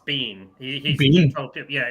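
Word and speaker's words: Biehn: I I saw a video where he said it's Bean. He He told him, "Yeah, it's Michael Bean." He's like, "Oh, interesting." Because that name in Scotland is pronounced Bean.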